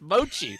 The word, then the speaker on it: mochi: It's mochi.